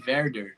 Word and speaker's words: Werder: Assim, falando meio portuguesado, é Werder, mas é Werder. Lá se pronuncia.